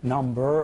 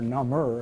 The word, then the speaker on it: number: stimulus are we numb number itself can be parsed number or number and maybe in this case the latter is a better pronunciation one million dollars just